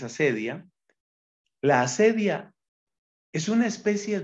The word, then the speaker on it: acedia: el corazón la acedia unos también acentúan acedia pero la pronunciación más común es acedia la acedia es una